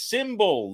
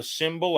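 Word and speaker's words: Simbull: by making Sports fandom profitable that company is symbol the stock market for sports download the symbol app it's spelled s-i-m-b-u-l-l and use the promo code FL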